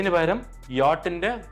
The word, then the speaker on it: Jahr: JAHR. ഇംഗ്ലീഷിൽ വായിക്കുമ്പോൾ you read it as jar എന്നാണ് വായിക്കുന്നത്. But what is the German pronunciation here? It is yacht.